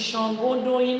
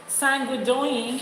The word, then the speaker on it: Shangodoyin: It is Shangodoyin, not Sangodoyin. It is Shangodoyin. Learn to pronounce it Shango, Shan, S-H, Shan, as in Sean. You know how you say Sean?